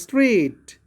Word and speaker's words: straight: Likewise straight, S-T-R-A-I-G-H-T. In this GH, underline GH in straight.